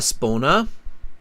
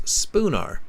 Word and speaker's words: Spooner: you've got two marks it's not a spona makes sense it's sponar Spooner the city is Liverpool